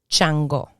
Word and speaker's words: Shango: pronounced i got you shango shango and in spanish chango so the sh turns into a cha ebay ebay in spanish